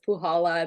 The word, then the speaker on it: Puchala: and you did pronounce it correctly so it's pujala this fee is silent uh so I'm originally I was born